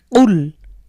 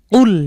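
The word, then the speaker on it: قل: যেমন সূরাতুল ইখলাসের মধ্যে আমরা দেখি কুল হুয়াল্লাহু। তো এই যে কুল ব্যবহার, এটাকে যদি আমরা কফের উচ্চারণ ঠিকঠাক না করি তাহলে এটা হয়ে যাবে কুল।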